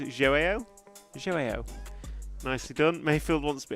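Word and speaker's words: João: Joe Figueiredo is Joao.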